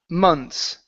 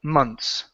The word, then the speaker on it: months: And your last word is the word months. So, when we pronounce this word, the th does not matter. Okay. The way that we say it is like so. Months.